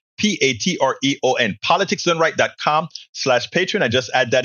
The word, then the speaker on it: Patreon: Patron is spelled Patreon. Patreon.